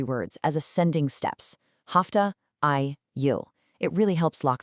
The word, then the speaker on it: ay: Stretching beyond that, we have ay, pronounced literally exactly like the English word ay, which stands for a month.